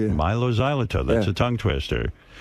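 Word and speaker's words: Mylo Xyloto: Milo Xyoto. Milo Xylito. Yeah, Milo Xylito.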